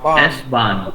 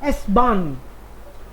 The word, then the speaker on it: S-Bahn: S-Bahn. H is silent because it's the only word. S-Bahn.